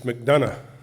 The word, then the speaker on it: McDonough: Charles McDonough? Is it McDonough or McDonough? I thought you guys were from Joplin. It's McDonough.